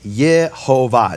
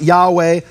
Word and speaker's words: Yehovah: Unequivocal that this rabbi is saying the name is Yehovah, not Yahweh, not Yahuwah, though you don't find